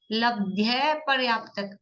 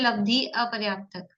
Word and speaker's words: लब्धि अपर्याप्त: लब्ध लब्ध और पर्याप्त ऐसा नहीं है लब्ध्य पर्याप्त अपर्याप्त है तो प्रोनाउंस में लब्धि पर्याप्त ही बोलना चाहिए ताकि हमको स्पष्ट रहे ये संधि सहित लिखते हैं तो लब्ध्य पर्याप्त दिखता है लेकिन शब्द है लब्धि अपर्याप्त उसमें भाव है अपर्याप्त